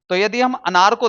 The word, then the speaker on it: क: नहीं बोलेंगे इसे बोलेंगे क क क ना कि का का का नहीं बोलेंगे इसे क नहीं बोलेंगे इसे क बोलेंगे क मुंह को कम खोलना है और तब इसका उच्चारण करना है क ठीक है दोस्तों